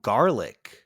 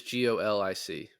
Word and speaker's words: Golic: they were calling him garlic because he smelled bad his name is g-o-l-i-c olic I I I pronounce Golic I watched the movie